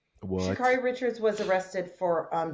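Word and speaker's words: Sha'Carri: Is it Shakary or Shakari? It's Shakari.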